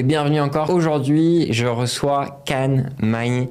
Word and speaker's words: Khan Magne: Aujourd'hui, je reçois Can Mai. Je la prononce à la française, comme je t'avais dit. C'est ça, c'est parfait.